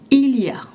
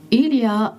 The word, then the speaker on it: il y a: Il a est parfois prononcé. Ilia is often and sometimes pronounced in spoken French.